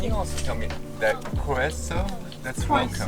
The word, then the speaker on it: Croeso: Oh, can you also tell me that Croeso? That's welcome, right? That's welcome, yeah. And how do you say that? Croeso. Croeso.